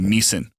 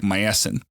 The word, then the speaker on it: Miesen: now, used to be Miesen. Yeah. And it's a German name, but it's spelled M-I-E-S-E-N. So it looks like Meissen. Or Mason.